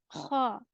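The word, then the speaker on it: خ: The next letter is Kha. Ghain and Kha will originate from upper portion of your throat.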